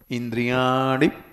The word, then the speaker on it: इंद्रियाणि: णी जोर से बड़ी ई मत करो, इंद्रियाणि प्रमाथीनि।